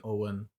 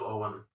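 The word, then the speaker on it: Eoghan: e-o-g-h-a-n mahoney e-o-g-h yeah i think that's like an owen i was there uh it's probably irish isn't it owen is slightly different in irish it could be it's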